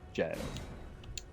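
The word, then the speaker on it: gaol: Uh G A O L is like old English. Uh jail.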